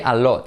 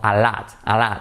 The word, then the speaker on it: a lot: Try not to say a lot, sino a lot, okay? So, mucho dinero, a lot of money. Put it all together. The T becomes a soft R in Spanish.